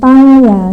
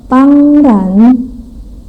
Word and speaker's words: 当然: Kemudian 当然 tang a-nya ada tanda nada 1. Jadi bacanya datar. 当然. Kalau ran nada 2 ya, naik. 当然.